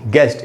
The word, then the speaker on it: guest: ये वर्ड है दोस्तों गेस्ट, GUEST, गेस्ट, इसमें U का उच्चारण नहीं हो रहा।